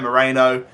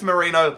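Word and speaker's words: Merino: I know it's Mikel Marino, but I've been saying Moreno. Apparently it's Marino.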